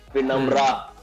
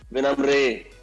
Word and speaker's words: विनम्र: बहुत साल तक तो लोग मेरा नाम बॉच करते रहे, विनम्रा, विनम्रे, विनम्रे। तो बहुत कम लोग सही तरह से प्रोनाउंस कर पाते हैं। मैंने सही से प्रोनाउंस किया है, मैं राइट? वाज I right? पता नहीं कैसे प्रोनाउंस कर रहा, दोबारा बोल। विनम्र, इज इट राइट? नहीं कोई सी नहीं, पर नहीं, इट्स विनम्र, राइट? हाँ, करेक्ट।